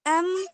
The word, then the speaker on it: aim: हम्म His aim was good.